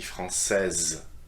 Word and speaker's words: française: By adding this extra E at the end, I need to finish with the Z sound, okay? So please listen carefully. Je suis français, masculin. Je suis française, féminin.